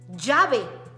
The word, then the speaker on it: llave: They are 2L, but they don't sound like a L. They sound like sometimes like a J, J, or like a Y, J. Llave, lluvia, llanta.